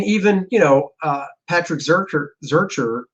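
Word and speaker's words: Zircher: um i mean even you know uh patrick zurcher zerker on uh tarna did i say it right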